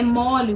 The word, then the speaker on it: chaves: para colocar na comida no caso de Chaves a pronúncia é mole mesmo que não haja aí um acento agudo a pronúncia correta Quando nós vamos nos referir ao coletivo de Chaves é mole tá mole então substantivo